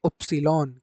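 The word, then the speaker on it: Ypsilon: बाकी जर्मन में आप लोगों को अगला जो वर्ड जो प्रोनाउंस करना है इसको वाई बोला जाता है इंग्लिश में। जर्मन में आप इसको बोलेंगे उप्सिलॉन।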